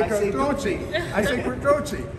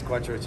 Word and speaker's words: Quattrochi: I say Quattrochi. It's Quattrochi, it's fine, it's American.